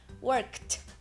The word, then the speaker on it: worked: work desv certo então o Ed vai ter som de worked worked i worked a